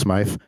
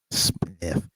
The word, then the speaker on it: Smyth: And it's not pronounced Smythe. Got right. Curtis Foster there. How do you have a Y and no E? Smith.